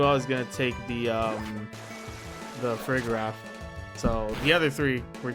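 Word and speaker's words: Farigiraf: It's supposed to be Giraffe Rig, but flipped backwards, so it's Frigraph.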